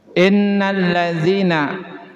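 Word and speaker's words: إِنَّ الَّذِينَ: Karena ini masih sering kita nemukan innalladzina hukumnya hukum mad thobi'i. Kenapa disebut mad thai? Ah tengok saja. Ini ada huruf mad iya. Ya sukun diawali dengan harakat kas kasrah. Panjangnya berapa harakat mad thaabi'i? dua harkat. Jadi panjang mad thbii itu dua dua harkat. Mad artinya panjang thobi'i. Karakter. Jadi karakter mad thobi'i mah dua harkat. Tidak boleh kurang, tidak boleh lebih. Ya harus dua harkat.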